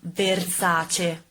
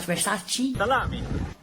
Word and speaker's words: Versace: a not E in Italian is a and pronounce it other words for example the stylist Versace not Versace salami salami salami salami salami salami salami allow